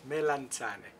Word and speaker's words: melanzane: Melanzane.